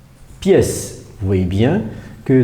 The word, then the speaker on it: pièce: Pièce, vous voyez bien que dans le mot pièce, il y a un E caduc, c'est-à-dire un E qui ne se prononce pas, un E muet à la fin.